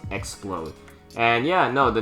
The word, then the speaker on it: Xplode: Literally, Explode, but minus the E. So you spell it with an X, so Explode.